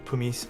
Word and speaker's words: pumice: Was so torn between Americano and Pumice SE. Ooh. I keep saying Pumice Stones because that's how my mom pronounced it, but it's pumice.